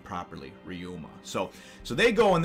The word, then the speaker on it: Ryuma: it and uh and say his name properly ryuma so so they go and they're heading off